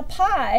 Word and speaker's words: pi: the number pi now pie in the way you spell it is p I it's a Greek letter it's an irrational